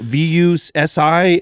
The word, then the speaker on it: Vusi: Vusi, V-U-S-I. I can't pronounce his last name.